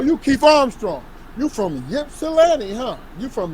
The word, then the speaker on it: Ypsilanti: You from Ypsilanti, huh? You from Ypsilanti.